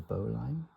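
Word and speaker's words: bowline: The Boline pronounced Bolin. Okay.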